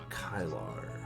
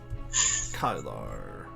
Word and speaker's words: Kylar: Kylar. Rhymes with Dylar. Kylar.